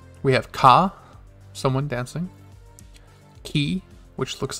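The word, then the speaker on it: き: The next one looks like a key, and is pronounced the same way. Ki.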